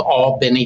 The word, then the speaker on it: Albany: A little town called Albany, Georgia, and you got to say it like that, not to be confused with Albany, New York, of course.